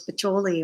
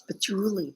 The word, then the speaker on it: patchouli: I wasn't saying it right. Who knew? I thought it was patchouli all this time. It's patchouli.